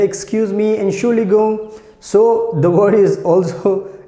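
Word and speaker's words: Entschuldigung: to stop somebody so we say excuse me and surely go so the word is also you can see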